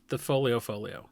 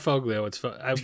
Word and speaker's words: Foglio: It's the folio. The folio. I see. It's not foglio. We've been told by someone who knows Italian.